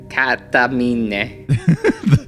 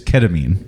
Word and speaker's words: ketamine: after the first time I tried K ketam katamine is that the Japanese pronunciation of ketamine ketamine is it katamine it's ketamine K ketamine ketamine okay that's how that is